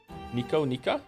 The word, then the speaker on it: Nika: Thank you, Lady Nika, for the resub. Wow, time flies. Already another month. If you're wondering, my name is pronounced like Nico, but with an ah sound instead of o. Nika? Nika, I think.